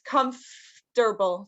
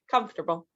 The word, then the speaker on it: comfortable: say it but comfortable it looks like comfortable but it's comfortable so we we kind of get rid of this o in the middle and it's just like comfortable so comfortable uh the next one